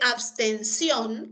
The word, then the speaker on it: abstención: Mira, en el caso de abstención, la sílaba tónica es esta de acá, ¿no?